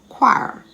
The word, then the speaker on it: choir: with aches and pains aren't we a-c-h-e h is silent chord c-h-o-r-d echo e-c-h-o choir c-h-o-i-r c-h-l-o-r-i-n-e can you think of some silent